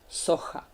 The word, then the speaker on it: socha: H, sleeping panda. Maybe you would pronounce it somehow like, I don't want to tell you, it would confuse you and you would remember it. The right pronunciation is socha.